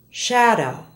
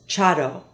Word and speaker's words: shadow: Listen to the following SH words and how they're mispronounced in Spanish. Shadow is often said as chado.